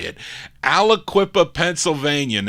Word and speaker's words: Aliquippa: spelling here aloo that's how you say it aliquippa pennsylvania and it's their only release it's a very rare 45.